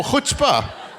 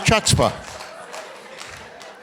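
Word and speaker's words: chutzpah: tmerity, the uh Chhatzpa, is that how you pronounce it? Oh, hutbah. Not Not Chhatzpa.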